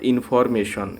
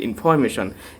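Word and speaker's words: information: ইনফরমেশন নট ইনফরমেশন, এটি হবে ইনফরমেশন।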